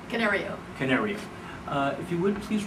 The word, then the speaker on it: Canario: Did I pronounce that correctly? Canario.